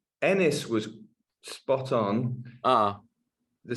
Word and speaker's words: Enys: did I get the title right did I pronounce it correctly um it's Ennis was spot on ah the second word is